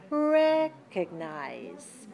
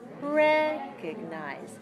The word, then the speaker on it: recognize: low low recognize recognize so the third syllable is clear unstressed how about the second what about the second unclear and reduced do you see the difference in the shape of my mouth and how open it is recognize see very small